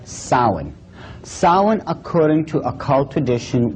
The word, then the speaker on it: Samhain: call it sowing now when you look at the name it looks as if it's saying samhain or something like that no no no this is properly pronounced in the ancient gaelic as sauen sowen according to occult